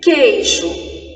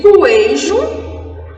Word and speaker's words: queijo: Só serão dígrafos se o som do U não for pronunciado. Exemplo, queijo. Eu digo coejo? Não. É como se o U ele não tivesse uma existência.